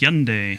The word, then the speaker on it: Hyundai: It's pronounced Hyundai.